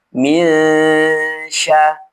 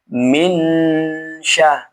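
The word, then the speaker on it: مِنْ شَرِّ: Nah, cara membacanya nun ini dibaca ghunah dengan cara menyamarkan bunyi huruf nun dan diarahkan ke huruf setelahnya. Huruf syin ini. Dan posisi lidah di bawah ya. Minsya bukan dibaca minya bukan tapi minya.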